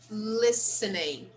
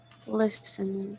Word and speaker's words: listening: this sam was listening listening listening yes in this word here the letter t is silent we do not pronounce the letter t it's completely silent we